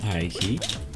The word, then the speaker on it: Haiki: It's like, it might not be called Haiki. You could pronounce that a different way.